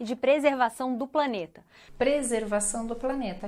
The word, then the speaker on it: preservação: Que ameaça os esforços mundiais de combate ao aquecimento global e de preservação do planeta. Preservação do planeta. Então, R não muito pronunciado, né? Mas baixo, menos forte.